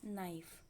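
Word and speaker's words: knife: पांचवा वर्ड है कि एन वाय पी नाइफ यहां पर लिखा तो है कि लेकिन इसके को हम लोग बोलेंगे नहीं तो यह साइलेंट है यहां पर इसको हम लोग नाइस पढेंगे ठीक है है तो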